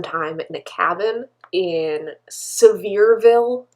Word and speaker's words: Sevierville: We also spent some time in a cabin in Sevierville. That's how they say it in Tennessee, not even though it's spelled Sevierville.